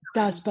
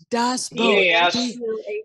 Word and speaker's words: Das Boot: Das Boat. No, spell it. Das Auto. Das Boat. Das Boot.